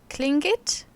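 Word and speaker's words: Tlingit: them also those uh cling it i think it nearly sounds like a k sound and not like a t the clingit art is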